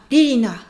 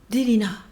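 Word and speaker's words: Ririna: Le prénom d'une des protagonistes est R-I-R-I-N-A, Lilina. Et le héros prononce très souvent plus vers le D que vers le L. Il dit souvent Lilina.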